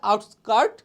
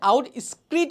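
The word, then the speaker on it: outskirt: Design করছে অ্যাট দ্য আউটস্কার্ট of Dhaka. দেখো এখানে অনেকে আউট স্ক্রিট উচ্চারণ করে, যদি শুদ্ধ উচ্চারণ শিখতে যাও এটার উচ্চারণ হচ্ছে আউটস্কার্ট।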